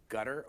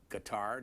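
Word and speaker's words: Qatar: Hitchens you've been in gutter or in Guitar depending on how you want to pronounce it you mingle the words cutter and gutter back of your throat gutter cutter is where I've been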